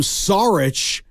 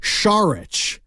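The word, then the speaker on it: Šarić: the Sixers yes he changed the way you pronounced his name from sarich to shich in the like the middle of midd season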